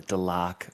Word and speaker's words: Delaque: Now, this is going to be a big one here, because it is pronounced Delaque, and any other way you say it is wrong, and you need to be beaten with sticks.